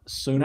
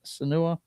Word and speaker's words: Senua: Can you pronounce it? Senua? Suna. Is it Senua? Okay. Ninja Theory is back with another Hellblade game, except this one is simply called Senua.